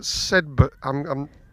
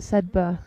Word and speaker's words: Sedbergh: I knew he was at Sedbergh. Yeah. I'm always reluctant to pronounce the GH. I think it is Sedberg, isn't it? Yes. Not Sedberg. No, Sedberg.